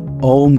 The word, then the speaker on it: ओम: उपयोग किया जाता है ओम का उच्चारण तीन शब्दों का मेल है अ उ और म ओम यह तीन अक्षर